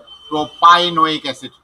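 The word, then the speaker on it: propynoic acid: 1 2 3, এটা আবার triple bond আছে, প্রোপাইনোইক অ্যাসিড। পিআই পাই উচ্চারণ করব, প্রোপাইনোইক অ্যাসিড। প্রোপিনা, প্রোপি উচ্চারণ করব না, প্রোপি উচ্চারণ হতো যদি পিই হতো ডাবল বন্ডের ক্ষেত্রে। এখানে ট্রিপল বন্ড আছে, এই জন্য প্রোপাইনোইক অ্যাসিড।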